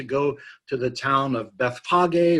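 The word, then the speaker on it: Bethphage: to the town of Beth Bogg A or a Bethpage it's sometimes pronounced or maybe I should say mispronounced and that's where they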